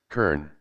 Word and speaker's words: colonel: Bulkbogan official said, but why the hell Colonel is pronounced like that? Yeah, Colonel. Kern.